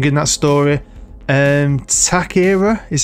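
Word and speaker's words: Táchira: think I pronounced it wrong I know I pronounced it wrong in that story and attack era is how you'd say it I'm gonna call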